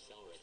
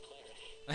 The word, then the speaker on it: cleric: I noticed that in your other video, you were calling them Selric, and I'm like, it's cleric. Yeah.